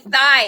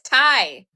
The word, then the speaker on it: Thai: Calling it thigh. It's Thai.